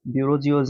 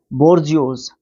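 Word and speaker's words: bourgeois: जियोस ठीक है बर्जस ब्यूरो जियोस नहीं बर्जस ठीक है यह रास्ता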